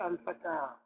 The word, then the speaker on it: الفتى: It has a sukoon, so because it's giving a mad or an elongation to the fatha on ta. So you say al-fatah, al-fatah.